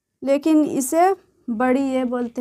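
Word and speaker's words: ے: ये बड़ी ये है, इसका भी उच्चारण य होता है, लेकिन इसे बड़ी ये बोलते हैं।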